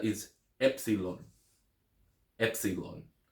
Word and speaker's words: epsilon: letter is EP epon Epsilon it is pronounced e as an egg Epsilon so let's say